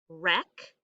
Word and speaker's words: wreck: Itch, wreck, knee, patch, wrap, like I'm going to wrap